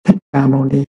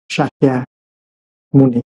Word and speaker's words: Sakya Muni: Thì tên của Ngài, ngày xưa là mình đọc theo người Hoa, mình đọc là Thích Ca Mâu Ni. Bây giờ mình phải đọc lại cho đúng, Sakya Muni, Bụt Sakya Muni. Đó là tên đúng của Ngài.